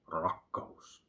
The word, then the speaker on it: rakkaus: And love is something very heavy word, especially in Finnish, rakkaus. I have a problem pronouncing the letter R as resonating as it's supposed to in Finnish.